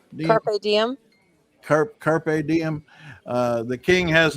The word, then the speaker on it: Carpe Diem: Carp Diem. Have I ever come close to pronouncing that correctly? Carp Diem. Carpe Diem.